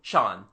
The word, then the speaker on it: Jean: he goes to AA the local pronunciation turns jean into Shan he is called Shan